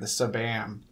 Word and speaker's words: Sabam: Like, do I say SBAM? Do I say Sabam? Do I say Spam? But I like how you say it with the Sabam. Yeah, I just started saying Sabam.